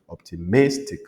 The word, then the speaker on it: optimistic: voyez les mot tous les mots qui se terminent par I on met l'accent tonique sur l'avantdernière C par exemple optimistic optimistic realistic optimistic realistic